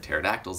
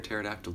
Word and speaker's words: pterodactyl: can't you hear a pterodactyl go to the bathroom because the P is silent okay let's keep coming